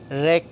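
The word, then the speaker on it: wreck: রাইটা এখানে আমাদের প্রথম জিনিসটা হয়েছে যেমন ব্রিটিশ উচ্চারণে শব্দের শেষে যদি আর থাকে তাহলে আর উচিত হবে না তাহলে রাইটা তারপর হচ্ছে রেক হচ্ছে ধ্বংস রেক ডব্লিউ আর ই সি কে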